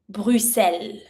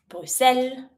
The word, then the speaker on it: Bruxelles: Bruxelles. Don't pronounce the x. Bruxelles.